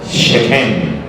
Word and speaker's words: Siquem: Siquem es Shechem, se pronuncia.